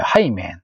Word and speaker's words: Hymen: 그래서 영어로는 하이맨이라고 읽어요. 하이맨.